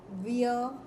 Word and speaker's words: vieux: But for objects, let's let's use ve uh for masculine, vieille for feminine, ve uh for masculine plural, vieilles for feminine plural, and before the vowel, vieille.